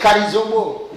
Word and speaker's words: Karizombo: Et tu prononces beaucoup mon nom, c'est pas bon. Pourquoi? C'est Karizombo.